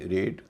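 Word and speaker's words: raid: आर ए आई डी रेड। टी ए आई एन T tent. इन सब में ए आई सबके बीच में है और उसका उच्चारण हो रहा है ए। लंबा वाला ए ना कि ऐ।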